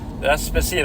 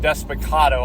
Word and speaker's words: Despacito: Despacito. I was even saying it wrong. Despacito. I feel like I've heard it called that before.